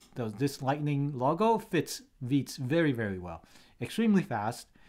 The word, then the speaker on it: Vite: tool it's called vit so I used to pronounce it as vit but it's actually called vit so vit is a I'll say it's a